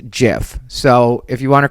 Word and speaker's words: GIF: just to let everybody know that it's actually pronounced jiff so if you want to correct me i'm